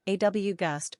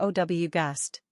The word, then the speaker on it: August: pronunciation aw gust or ow gust simple meaning great magnificent